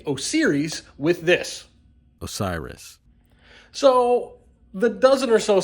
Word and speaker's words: Osiris: say it a lot in this video I pronounce it OS series I blame Apple because of Siri and this just has an o in the front of it so it looks like osiri but it's Osiris and now I feel like a giant idiot